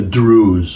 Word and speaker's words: Druze: They're called the Druze. Okay, it rhymes with Jews, but they're Arabs.